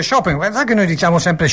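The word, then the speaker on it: Chopin: shopen Sì SH shopen Ah si dice shopen sai che noi diciamo sempre chopen e e poi invece si dice shopen Eh lei conosce shopen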